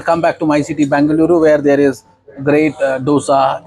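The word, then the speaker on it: Bengaluru: okay then we pass through bangalo bangaluru sorry bangaluru bangaluru the right pronunciation okay and then we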